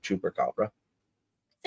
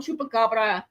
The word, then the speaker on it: chupacabras: I'm sure Figgy knows a little bit about the Puerto Rican version of the chupacabra. Say it right. It's El Chupacabra.